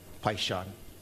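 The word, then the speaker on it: Paishon: Bruce, Chad, it's spelled C-H-A-D-D, Paishan, P-A-I-S-H-O-N.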